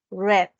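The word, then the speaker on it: read: está Ruth leer leyó está escrito Exactamente igual pero se pronuncia red como el color Yo leo el periódico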